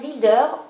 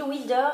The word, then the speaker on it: Van Wilder: Libérateur de Cindy Van Wilder aux éditions Gulfstream. Alors je m'excuse parce que dans ma dernière vidéo j'ai mal prononcé apparemment le nom de l'auteur, j'avais dit Wilder et c'est Wilder, donc je m'en excuse